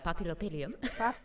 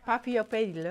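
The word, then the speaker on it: Paphiopedilum: The papillopedium. Papillopedilum.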